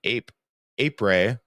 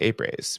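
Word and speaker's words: après: Uh I they have the 36th annual enduro and apre the a the s is silent. A apre ap I always want to say apres but it's not apre party.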